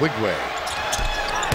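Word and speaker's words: Nwigwe: for Villanova replacing Dominic cheek and uh un wigway is back on now it's spelled NW I gwe in wigway somewhere in America Mike rice senior is watching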